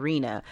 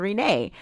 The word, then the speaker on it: Renee: For people that don't know, people that know me around town, they know me by Rena. And that's not actually my name. It's actually Renee.